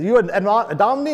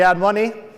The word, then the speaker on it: Adomni: for the a Domini someone mispronounced the name once and they said you and Omni or admin ears and money we went with the ad money great but if you